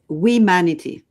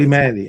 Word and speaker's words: Wemanity: Aurelie Harp is the founder of Wemanity. Is that pronounced correctly? It's so I realize it's not an easy one. It's Wemanity. So Wemanity. Humanity, but Wemanity.